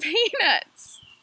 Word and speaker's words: peanuts: said peanuts you're saying peanuts and that's when I learned that if you have a Southern accent and you go somewhere and you decide to talk about peanuts you need to pronounce the T and I don't know